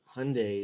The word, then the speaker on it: Hyundai: Hyundai is just like Sunday. You pronounce it the same except for the H and the S.